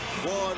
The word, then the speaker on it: Juan: you hear the name ju Manuel Marquez you know that means trouble as soon as the JP comes out although it's pronounced with a W as in one you know when you